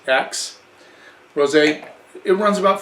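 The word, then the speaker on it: Aix: 8 X which is the name of the town is pronounced X Rose a it runs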